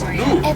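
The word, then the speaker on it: gnu: Those are wildebeest, also known as moo, which is spelled G and U, referring to the grunting sound they make.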